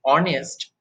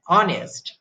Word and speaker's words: honest: for point that is if H is not pronounced like each each to the GM of the butcher now in that case we use n for example an hour and honest etc look here we